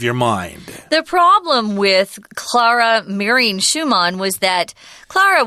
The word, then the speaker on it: Clara: later married Vic's daughter Clara or Clara that's how I would pronounce it but in German I guess it's Claud aha and she was an